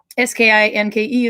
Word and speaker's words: skinke: This one, if you see the last parts of the word, S-K-I-N-K-E is the Norwegian spelling, skinka. So skinke, skinka, they're slightly different. The E on the end is pronounced E.